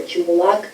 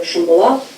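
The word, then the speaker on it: Shymbulak: For example, in Almaty, you would probably hear Chimbulak instead of Shimbulak.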